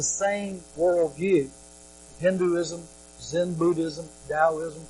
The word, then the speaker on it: Taoism: Hinduism, Zen Buddhism, Taoism, pronounced with the D but spelled with a T, which is a monistic, distinctionless worldview.